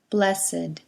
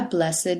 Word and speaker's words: blessed: The following ed words used as adjectives are pronounced with id: aged, dogged, ragged, blessed, learned, wicked, crooked, naked, wretched. So we say, an aged man, a blessed nuisance, a dogged persistence,